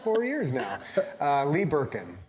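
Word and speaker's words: Berken: each other almost four years now uh lee Birkin Birkin yeah b-e-r-k-e-n it's okay you don't have to spell it just in case yeah you know you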